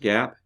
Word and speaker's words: GAAP: so GAAP yes is pronounced GAAP GAAP and these are the main rules standards